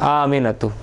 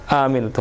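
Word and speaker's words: آمنتُ: ही spelling दिया हुआ, लेकिन इसका मतलब क्या है, हमजा और अलिफ, आमिनतु, टानना नहीं है इसको, लेकिन आमिनतु, हमजा और अलिफ, आमिनतु, मतलब एक ही बार टनाएगा जैसे अलिफ टन आता है बस।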